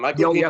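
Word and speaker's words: Michael Peña: I think that's how you pronounce his name. Michael Pena.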